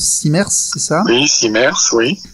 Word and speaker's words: CIMERS: responsable du CIMERS, je sais pas comment on prononce, CIMERS, c'est ça?